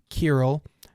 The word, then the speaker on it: Kirill: But anyway, he works with a Russian colleague named Kirill, which I looked up. That's apparently how you pronounce it, who is a Russian man.